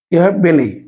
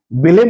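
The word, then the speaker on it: Belém: এই যে দেখুন এখানে বে এল ই এম বেলেই আমরা কিন্তু জানি আমরা কিন্তু সবাই এই যে লিজমনের পাশে যে স্থানটি রয়েছে এটাকে আমরা অনেকেই বেলেম বলে জানি এর আগেও আমরা কিন্তু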